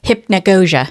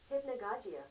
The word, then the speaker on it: hypnagogia: it hypn so I think the way you pronounce that is hypnosia okay hypnosia okay I meant to look it